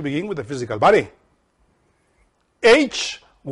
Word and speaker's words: Hyle: H-Y-L-E, Hyle. This is how it's said in Greek.